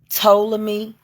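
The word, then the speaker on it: Ptolemy: the last days of toam me gray the p is silent but it's p t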